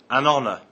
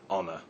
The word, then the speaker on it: honor: word honor we say an honor not honor the H in honor is silent other examples are an